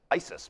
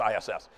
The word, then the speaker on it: ISS: his resume these days somebody pronounced that the other day as Isis I don't think that's right I think it's just ISS which has had certain